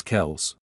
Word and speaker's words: Kelce: In the clip, Jones says, "So y'all know it's not even Travis Kelce? It's Travis Kels." So in other words, the E at the end of Kelce is silent.